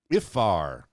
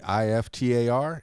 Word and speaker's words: iftar: And the nightly feast that breaks the fast is called iftar. Iftar? Okay, I-F-T-A-R, iftar.